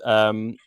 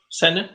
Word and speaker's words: Senne: San, Senne. is that how you pronounce it? It sounds Danish. Senne.